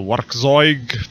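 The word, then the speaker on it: Werkkzeug: He's one of the makers of the Werkzeug tool. He did Crunchy. He did Capture. Is this how you? You don't pronounce the double K. It's just K.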